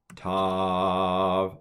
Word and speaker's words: Tav: So with the Dagesh, without the Dagesh, I'm going to pronounce it the same. But it's Tav and it's T.